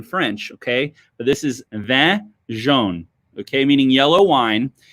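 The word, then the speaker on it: Vin jaune: Thing number 3, okay, is, let me make sure I can say this, Vin Juane. Vin Juane. Okay, this is French pronunciation.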